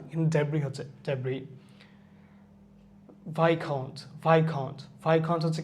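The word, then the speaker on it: viscount: Debris, as উচ্চারণ হচ্ছে না, কিন্তু ডেব্রি হচ্ছে ডেব্রি। ভাইকাউন্ট হচ্ছে কি একটা ইউকের একটা র্যাঙ্ক, মানে ইউকেতে কোনো সার্টেন পজিশনের ক্ষেত্রে ভাইকাউন্ট কথা ইউজ করা হয়।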